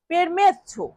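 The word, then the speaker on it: permesso: এই বাক্যটাকে ইতালিয়ান ভাষায় বলতে হবে পেরমেছ। পেরমেছ পেরমেছ মানে পারমিশন। ইংরেজিতে বলি পারমিশন। তো সেটাকে ইতালিয়ান ভাষায় বলা হচ্ছে পেরমেছ মানে কাছাকাছি উচ্চারণ।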